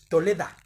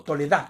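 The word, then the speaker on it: תולדה: La palabra y el original es Toleda, o Toledá, perdón, con acento en la A, ¿no?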